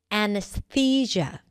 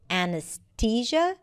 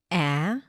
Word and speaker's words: anesthesia: The first word is anesthesia. Anesthesia. You might even hear people saying it with a T sound, 'anesTesia', but usually it's pronounced with a TH. A-n's-thee-juh.